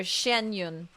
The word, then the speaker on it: Xianyun: occasions be sure to refer to one as shenyun Shen shenyun okay there we go shenyun Shen Yun Shen Yun now I got the pronunciation better Shen Yun all right you love